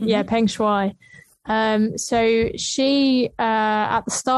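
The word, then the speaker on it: Peng Shuai: is it's shawaii why isn't it right yeah pengshui um so she uh at the start of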